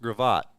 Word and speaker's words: Gravatt: Yeah, and I learned yesterday that it is pronounced Gravatt. Gravatt. I've been saying Gravitt.